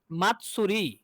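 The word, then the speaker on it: 祭り: তাহলে এখানে দেখেন যে মা কার সাথে যুক্ত হলো? এটা সু এর সাথে। এই সুটা কি? টি এস ইউ। তাহলে এই যে মা চলে গেছে যে টি এর সাথে, মাত, মা এর সাথে টি, তাহলে মাত, তারপরে সু, মাত সু।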